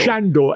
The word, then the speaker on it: Sandor: Sandor. Shandor. He spells Sandor, but he seems to be being pronounced Shandor because we're in the Carpathians, I would assume.